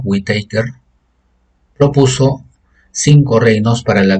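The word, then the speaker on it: Whittaker: 1969 el biólogo estadounidense robert whitaker así se pronuncia esto whitacre propuso cinco reinos para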